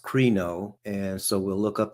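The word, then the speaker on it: κρίνω: This is a Greek word pronounced krino, and so we'll look up the definition of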